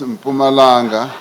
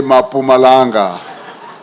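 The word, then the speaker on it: Mpumalanga: Some people who can't pronounce Pumalanga often say Mapumanga.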